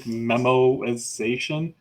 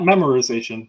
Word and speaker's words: memoization: term to consider um I think it's like memoization not memorization memo exactly yeah crossword but